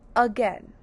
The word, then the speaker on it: again: Now the syllables of again are again. Again. You hear the in that first sound. Now we have to recognize that that uh we hear is not the letter u. It's an agg g is a g. Now you hear a short e here saying e. That e is spelled with the pattern a i in this word.